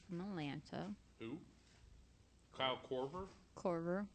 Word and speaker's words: Korver: My last and final pick is going to be Kyle Corrett from Atlanta. Who? Kyle Korver? Corver, thank you. I knew I said his name wrong.